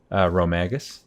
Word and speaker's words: Rhomagus: So, Raziel, how do you pronounce my name? Rhomagus.